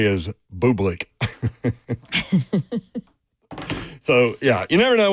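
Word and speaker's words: Bublik: Uh, and I was talking about a tennis player named Bubick and it's B U B I L I K.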